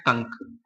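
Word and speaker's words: conch: अब देखिएगा, इसका जब हम प्रोनाउंसिएशन करेंगे तो इसको हम कॉन्च नहीं पढ़ते हैं, इसको हम पढ़ते हैं कंक, इसको हम स्टमक पढ़ते हैं, और इसका प्रोनाउंसिएशन होता है मोनर्क, है ना, मोनार्क।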